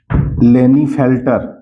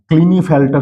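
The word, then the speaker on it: Klinefelter: एक्सवा इसको कहते हैं लेनी फेल्टर फेल्टर लेने फेल्टर सिंड्रोम के यहां पर साइलेंट है या क्लिनी फेल्टर सिंड्रोम भी कहते हैं य के साइलेंट है इसको लीनी फेल्टर या क्लिनी फेल्टर सिंड्रोम कहते हैं तो यहां पर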